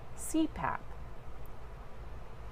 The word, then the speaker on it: CPAP: An acronym is an abbreviation made up of initials that can be pronounced as a word, such as CPAP, pronounced CPAP, which means for continuous